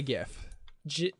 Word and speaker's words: gif: like I said sure I say gif like giraffe okay yeah honestly thinking